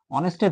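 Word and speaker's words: honest: তাহলে দেখেন অনেস্ট, অনেস্টের প্রথমে কি আছে, কনসোনেন্ট আছে, এইচ কনসোনেন্ট।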